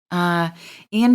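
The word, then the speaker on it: Eoin: And by the way, Ian Finn, Ian is spelled E-O-I-N, Finn, F-I-N-N.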